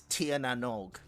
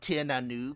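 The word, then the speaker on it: Tír na nÓg: So they mentioned the planet name is Tir Nanog. It's actually pronounced Tir Nanoog, thank you. It's from Celtic mythology.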